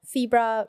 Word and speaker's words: Febra: so first of all febra rhymes with zebra yeah and then if